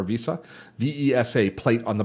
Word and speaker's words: VESA: a vest VESA plate I think it's pronounced vasa or visa ves a plate on